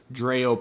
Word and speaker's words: Dreo: to be reviewing this dreo pedestal fan it's dreo or dreo it's spelled d-r-e-o this is on Amazon